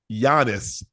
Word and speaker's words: Giannis: favor pronounce his first name one more time Giannis Giannis you spell that y a y a n i s